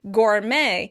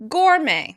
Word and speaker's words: gourmet: In British English, the word will be stressed on the first syllable. Gourmet. In American English, the word will be stressed on the second syllable. Gourmet, gourmet. Once again, this is a loan word from French, and you can hear that Americans are stressing that second syllable, the end of the word, gourmet.